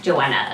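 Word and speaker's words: Choanna: i didn't have any ideas all right joanna's joanna it's spelled it's actually pronounced c-h-o-a-n-n-a joanna's joanna's a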